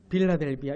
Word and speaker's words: 빌라델비아: 빌라델비아. 이게 한국식 발음이라서 빌라델비아예요. 이런 미국의 필라델피아라고 있지 않습니까? 같은 거예요. 같은 거.